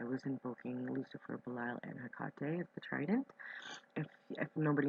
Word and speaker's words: Hecate: Hecate, I pronounce her Hecate. That's how she told me to pronounce her name.